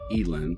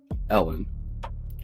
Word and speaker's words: Elin: The name, I'm going to call it Elin, since we pronounce in English a long e, there's only one consonant in between the two vowels, or Ellen, primarily traced back to